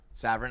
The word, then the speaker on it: Saverin: this is several s-a-v-e-r-i-n i believe severan i've been saying it wrong okay uh yeah get